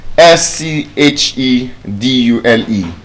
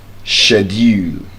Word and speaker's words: schedule: Interestingly, that word has two pronunciations. Both of which are correct. One is British, the other is American. Now, the British pronunciation of that word is schedule. Shedu while the American schedule.